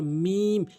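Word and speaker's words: م: লাম এভাবে উচ্চারণ করবেন এরপরে মিম দুই ঠোঁটের শুকনো অংশ মিলিয়ে দুই ঠোঁটের শুকনো অংশ মিলিত করে মিম এভাবে উচ্চারণ করবেন মিম এভাবে উচ্চারণ করতে হবে।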